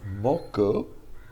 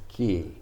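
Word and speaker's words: 木: the picture of a tree but when it's pronounced moku it means wood the word for tree is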